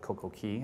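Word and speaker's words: CocoCay: when we're talking about coco and you guys pronounce it correctly with coco key i noticed that both because bohemians pronounce it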